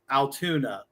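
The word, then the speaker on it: Altoona: Spelled with O's and not a U. Correct. Correct. Sounds like Toon Town. Yes. Toontown. Yes.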